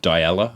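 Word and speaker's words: Dyalla: I'll shout out um Della, I think I think is how you say it.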